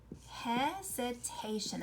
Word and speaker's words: hesitation: Ooh, do you hear that Z? There's an S there, but it says hesitation.